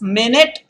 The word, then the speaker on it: minute: names now the example is minute and minut notice guys minute and minut so minutely watch this the conditions this the spelling should be the same well is it like that well yes the pronunciation should not be the same it is not minute and minut there is notice the spelling is the same but still the pronunciation is different it's amazing and very